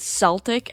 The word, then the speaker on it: Celtic: I pronounced it Celtic as it's named after the Celtic Sea, and that's the most common way I've heard this ship's name pronounced. It could totally be a tomato-tomato situation.